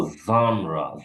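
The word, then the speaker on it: genre: তারপরে এটা দিতে পারে, এটা হলো জানরা, জানরা ফ্রেঞ্চ ভাষা থেকে এসেছে, এটার অর্থ টাইপ।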